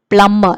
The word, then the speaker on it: plumber: plumber we say plummer we say b is silent there so we say plumber not plumber here you